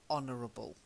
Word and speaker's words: honorable: honor it means you're honorable that's it yes honorable that's it good as you said a silent H silent a ya honor silent H honorable silent H ok this next one's